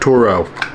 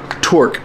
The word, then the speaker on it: Torq: It is the Torq. Yes, I'm saying it right this time. Not Toro. It's a Q. Torq TCM-1022.